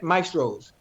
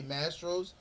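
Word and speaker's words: Mastro's: Maestros. That's not how you say Mastros.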